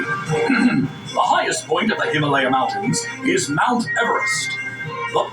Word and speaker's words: Himalaya: Way I figure it, we're somewhere in the Himalayas Mountains. That's pronounced Himalaya. Himalayas?